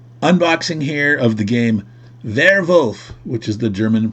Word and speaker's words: Werwolf: We did a unboxing here of the game Werwolf, which is the German pronunciation of werewolf.